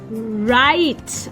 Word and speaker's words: write: Next, I Write. I write. Here W is silent.